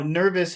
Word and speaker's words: nervous: And now nervous has two syllables. So, which syllable should we focus on? Nervous. Nervous. Which syllable has all of the power, all of the sound? Nervous. Nervous. Nerve. Okay, so that's our big sound here.